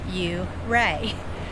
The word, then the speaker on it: Ouray: We're on our first hike in Uray and we heard it's pronounced Uray.